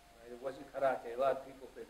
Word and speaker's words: karate: The right way to pronounce it is roll the R. You say karate.